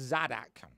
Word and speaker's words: Zaddak: It's Zaddak. Z-A-D-D-A-K, or it's A-C-K, depending on which one I want to use.